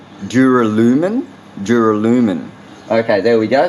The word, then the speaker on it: duralumin: type of it's very hard for me to pronounce actually it's called duralumin duralumin duralumin okay there we go so I hope